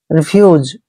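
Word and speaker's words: refuge: Next word है आर ई, एफ यू जी ई। दोस्तों, आर का उच्चारण र करते हैं। इ को इ की मात्रा पढ़ते हैं। एफ का उच्चारण हमने फ करना है। यू को यू पढ़ते हैं और जी ई का उच्चारण ज करेंगे। रिफ्यूज।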